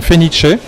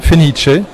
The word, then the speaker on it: Phoenicea: mon stand des parfums fenice ça s'écrit un peu différemment mais le la prononciation c'est une prononciation italienne fenice qui veut dire phoenix